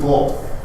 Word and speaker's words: Bol: At some point, look up Manute Bol. It's spelled just like it sounds. B-O-L is how he spells last name.